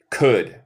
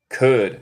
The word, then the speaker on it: could: Y nota aquí, en los dos, el L es muda. Could. Could. Es como could. Y should.